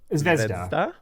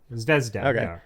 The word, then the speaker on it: Zvezda: Uh how do you pronounce that? Zvezda. Zvezda.